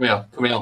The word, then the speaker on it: Kumail: Kumail.